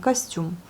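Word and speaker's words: костюм: Vous voyez, le O n'est pas accentué, donc le O se prononce comme un A. Et à la fin, nous avons l'accent sur la syllabe, la dernière syllabe, donc costume.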